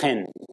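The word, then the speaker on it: חֵן: in the Hebrew is hand it's the word hen I know that because of the young man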